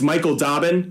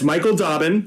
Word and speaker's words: Michael Dobbin: dobbs94 and Mike dobbs94 that's Michael Dobbin since I butchered that I'll say that one more time that's Michael Dobbin who does a great